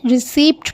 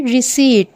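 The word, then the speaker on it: receipt: आप ये स्पेलिंग देखें आर ई सी ई आई पी टी और बाज लोग इसे रिसीवड पढ़ते हैं जो कि गलत है इसमें जो है पी यह साइलेंट है इसे कहेंगे रिसीवड जी यह था आज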